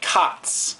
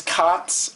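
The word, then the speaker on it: 勝つ: okay um basically it just sounds like it is spelled okay cots okay there it's c a t s silent okay so take a look at this pronunciation okay so when is cots okay so like khatta would mean i won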